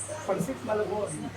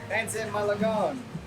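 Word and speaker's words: pancit Malabon: Pansit Malabon. Pansit Malabon.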